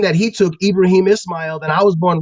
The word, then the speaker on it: Ibrahim: Hebrew pronunciation is Abraham he took the Arabic pronunciation ibraim and took that as a first name instead